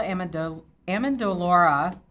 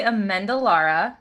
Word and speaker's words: Amendolara: Hey, yeah, it's actually Amendolara.